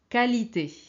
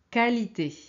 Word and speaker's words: qualité: fait beaucoup d'étrangers euh qui ont tendance à prononcer qu quii ok alors regardez ici c'est qualité qualité quitter quitter qualifier qualifier ce n'est pas qualifier